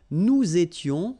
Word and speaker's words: nous étions: Okay, tu étais, il était, elle était, nous étions, little liaison here to make it more beautiful, nous étions, okay, final S not pronounced, remember, vous étiez, same